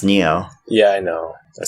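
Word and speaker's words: Nioh: when I say neo people are gonna think Ennio but it's an IO H it but it's pronounced neo yeah I know I said an IO so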